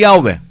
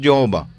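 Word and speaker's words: Yahweh: Hebrew tetragrammaton YH wh traditionally pronounced Jehovah The Lord is now known to be correctly vocalized yahwe so wala Ging ma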